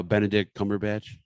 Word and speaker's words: Benedict Cumberbatch: wait how do you say his name uh benedict cumberbatch okay they said bend the dick bend the